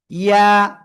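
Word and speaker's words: ي: ইয়া। জিহ্বার মাঝখান তার বরাবর উপরে তালুর সঙ্গে লাগিয়ে জাস্ট এক আলিফ টেনে উচ্চারণ করতে হবে।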